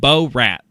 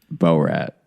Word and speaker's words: Borat: You The first few times you said B rat and that is just not how it's pronounced. Bo rat.